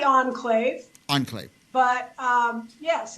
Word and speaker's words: Enclave: Is that how you say it in Turlock? It's actually Enclave.